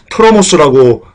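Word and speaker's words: τρόμος: 그리고 떨림은요, 트로모스라고 발음하는데요.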